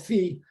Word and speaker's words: phi: think nobody knows i people differ over what to pronounce it i'm going to call it fee um fee just stan